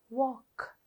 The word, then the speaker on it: walk: In all 4 words you have the L sound highlighted, but in one word you hear the L sound, bulk, and in the other words you don't hear the L sound. L is silent. Walk, calf, balm.